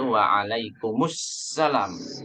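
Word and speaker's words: وعليكم السلام: jangan Waalaikumsalam Warahmatullahi Wabarakatuh tapi harus tepat yaitu waalaikummussalam ya Waalaikumsalam Warahmatullahi Wabarakatuh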